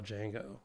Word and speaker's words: Django: but I'll give you it rhymes with um pip install mango um have we talked